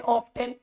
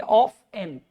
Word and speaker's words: often: बच्चों कुछ लोग इसे ना कहते हैं OF ऑफ, TN 10 ऑफ 10। हाँ ठीक है, जिसको नहीं पता वो पढ़ भी सकता है ऑफ 10। लेकिन बच्चों कुछ साइलेंट वर्ड्स होते हैं, बीच में उनकी स्पेलिंग में आती तो है वो लेटर, बट उसको प्रोनाउंस नहीं करा जाता, बोला नहीं जाता। टी को नहीं बोलना है, हम बोलेंगे ऑफ एन, ऑफ एन।